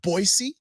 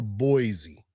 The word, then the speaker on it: Boise: Is it Boisey or Boise? It's Boise. I've heard it said Boisey. You've heard wrong, sir.